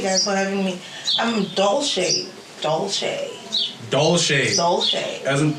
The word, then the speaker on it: Dolce: you thank you guys for having me i'm doll shade doll shade doll shades soul shade as in